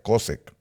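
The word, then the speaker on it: חֹשֶׁךְ: 22 del diccionario strong esa palabra cosec cosec Así es como se pronuncia cosec significa miseria la palabra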